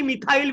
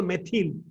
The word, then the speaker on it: methyl: then il methyl ताको के मिथाइल Billy कहंती बट it should be properly pronounce मन रको pronunciation proper हबो मेथिल ताको तार फार्मूला हला